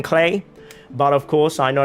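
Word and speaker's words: Klee: thing with Tara Talia clear is the one I slip up on all the time if you go through my videos you'll see I say Cleo clay and there's like no consistency there I am still kind of trying to get used to saying clay but of course I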